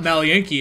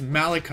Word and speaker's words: Malachi: And then she was like, no, it's not Malienki, it's Malachi.